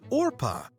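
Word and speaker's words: Orpah: first name is actually orpa people mispronounced it as Oprah so often that she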